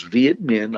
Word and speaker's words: Viet Minh: Now, the word is Viet Minh. I'll spell it Vietminh.